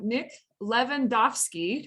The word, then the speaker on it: Lewandowski: lot of letters but i just pronounced it like it's written and it's okay exactly